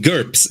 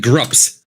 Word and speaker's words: GURPS: It's called GURPS, actually. GURPS, yeah. Did I say something different? You said GRUPS.